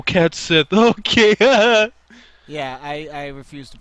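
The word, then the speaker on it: Cait Sith: You're gonna get people like, who the fuck is Cat Shi? And it's like, oh, Cat Sith.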